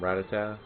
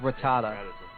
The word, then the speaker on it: Rattata: uh I think I used to call him ratatata or or or that one guy that did the the let's the let's glitch like Pokemon red video it's like like Ratatat no it's Rattata yeah I I always have weird pronun pronunciations